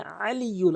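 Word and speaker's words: العلي: এখানে আলিয়ুল আইনের উচ্চারণ করতে হবে, হামজার উচ্চারণ করা যাবে না।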